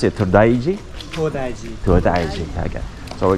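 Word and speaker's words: 東大寺: to the temple now Yeah How do you pronounce it todaiji todaiji todaiji okay So we're going to the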